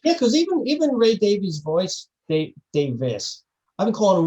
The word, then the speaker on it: Davies: get it wrong again i'm pretty sure it's davies right it's davies no that's what i'm